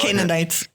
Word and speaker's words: Canaanites: the Canaanites, or yes, how is it pronounced in English? Canaanites.